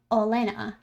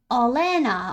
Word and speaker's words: Olena: By the way, my username's pronounced Olena. Olena.